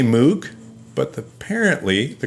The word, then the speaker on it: Moog: His name is spelled M-O-O-G. It's fun to say Moog, but apparently the correct pronunciation is Moog.